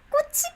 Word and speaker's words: 꽃: 꽃이 피어요. 꽃, flower. 꽃, flower. 꽃. And 꽃이 피어요. 꽃이 피어요. Yes, flower blooms. And do you hear my pronunciation? 꽃. It's just 꽃 when you read that letter.